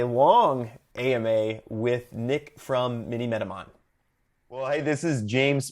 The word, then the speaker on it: Minimetamon: If you'd like to, here is my long AMA with Nick from Minimetamon.